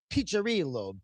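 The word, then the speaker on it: Piccirillo: And and it's pronounced picherillo. The double c is a cha.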